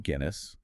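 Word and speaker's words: Aguinis: And it's by Herman Guinness, rhymes with Guinness, like Yeah.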